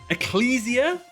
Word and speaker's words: Ecclesia: I'm saying Eclelesia's name wrong. Eclelesia. Ecclesia. Ecclesia. Ecclesia.